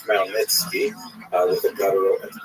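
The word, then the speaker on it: Khmelnytsky: It's actually pronounced Malnitzki with a gut at the beginning.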